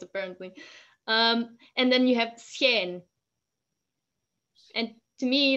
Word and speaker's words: schijn: Okay, so in Flemish you separate the S from the CH, right? Yes. If it is written with an S. CH we pronounce it exactly almost exactly the same as a soft G, like G.